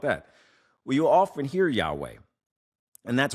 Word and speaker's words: Yahweh: And you heard me say Yahweh. You know, you say, "What about that?" Well, you'll often hear Yahweh, and that's widely accepted by scholars as the most likely ancient pronunciation.